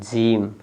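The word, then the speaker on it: gym: है जी वाई एम जीम क्या हो जाएगा जीम देखिए जी के जस्ट बाद वाई है तो ज पढ़ेंगे और म जीम क्या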